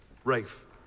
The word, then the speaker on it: Rafe: very close to me rafe pronounced like a dog throwing up we are you sure